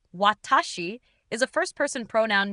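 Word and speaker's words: 私: In Japanese, the kanji, pronounced watashi, is a first person pronoun meaning I or me.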